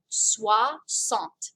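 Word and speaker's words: soixante: do you remember what it is so here we go this is how it's spelled sua sant is how it's pronounced so if this is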